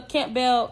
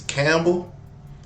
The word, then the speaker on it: Campbell: Yeah, I don't know if it's Campbell or if it's Camp Bell. But whatever apartment it is, don't move there. Girl, the P is silent. It ain't two words.